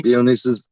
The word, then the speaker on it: Dionysus: And we found somebody called Dionysus. Am I pronouncing that correctly? Yeah, Dionysus emphasizes the point of having fun.